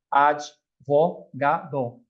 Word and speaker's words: advogado: Por mais que a gente queira colocar ali um I, não tem esse I. O D é mudo, né? Advogado.